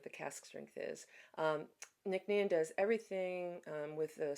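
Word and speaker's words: Nc'Nean: Um, Nicknian does everything um with the smallest carbon footprint possible.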